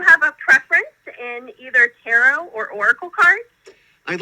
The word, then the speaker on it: tarot: Steve, I have to tell you, I'm incredibly impressed that you said instead of tarot, you said tarot, which is the actual correct pronunciation.